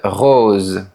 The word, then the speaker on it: rose: Dans une prononciation plus parisienne, le son est fermé. O, une rose. Le O ressemble à celui du mot beau.